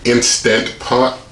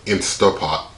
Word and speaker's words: Instant Pot: And although I know it's called an instant pot, it's spelled instant pot, I don't know why I always call it Instapot, even though I know the name is Instant Pot.